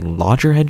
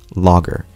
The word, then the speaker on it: Loggerhead: only that i also called it a larger head track from that point on until i literally learned halfway through this video that it's instead pronounced logger which makes more sense also